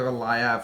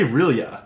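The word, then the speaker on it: R'lyeh: Well, I say Relia. Relia, which is yeah. my favorite way I've heard it pronounced. Relia. But it is a word that very intentionally has no correct pronunciation.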